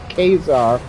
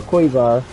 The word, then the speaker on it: Quasar: create a hero called Quasar or Quasar. It's like QU, but then ASAR, so Quasar.